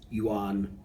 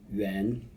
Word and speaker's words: yuan: You'll often hear people pronounce this as "yuan" (with "a" as in "father"), but in the original Chinese it's actually yuan ("a" sounds like "e" in "bed").